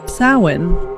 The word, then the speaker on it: Samhain: Sin, pronounced sin, is the ancient Celtic festival marking the end of the harvest and the beginning of winter.